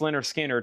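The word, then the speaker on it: Lynyrd Skynyrd: And pronounced Leonard Skard sold to Zack Andrews for $35.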